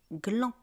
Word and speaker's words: glands: Un gland des glands. On ne prononce pas le définal.